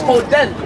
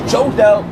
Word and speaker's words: Jodel: Like my name is Hodel in Spanish. Because my name is Jodel with a J. But in Spanish it's with an H, so it's Hodel.